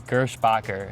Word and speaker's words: Gerspacher: The last name is Gerspacher. It's German. Gerspacher.